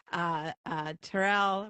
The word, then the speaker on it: Terrell: Now, by the way, people, when you jam up and you follow people who are hilarious, like Terrell rhymes with Carol.